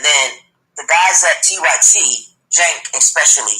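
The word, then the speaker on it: Cenk: And then the guys at TYT, Jank especially, C-E-N-K is how you spell his name, but it's pronounced Jank.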